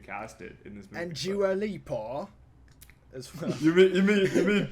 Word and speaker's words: Dua Lipa: And Dua Lipa as well. You mean Dua Peep? I guess don't know. Well, it's like basically a talk show host mispronounced like Dua Lipa's name and called her Dua Peep, and then the internet went crazy.